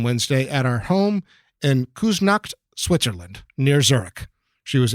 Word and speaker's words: Küsnacht: time, died on Wednesday at our home in Küsnacht, Switzerland, near Zurich.